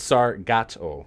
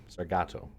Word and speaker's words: Sargato: But, yeah, it's Sargato. Yep, Sargato. With a hard got in there.